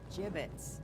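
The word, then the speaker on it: gibbets: Avery had some gibbits left over. Jibbits? What? It's pronounced jibbits.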